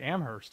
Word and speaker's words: Amherst: I like his message, and, you know, you pronounce Worcester very well. You know how to say Amherst. Now, I mean, apparently Amherst is how you say it.